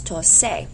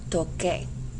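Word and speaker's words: toqué: to play an instrument, if I didn't know any better, I would drop my AR and I would add A. But according to our pronunciation rules, that would be pronounced as tose. We don't want tose, so the C goes to QU, becoming yo toque.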